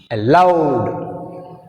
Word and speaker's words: allowed: Allowed, allowed. In this word we have two syllables. A is weak prefix, that's why we have stress on second syllable L.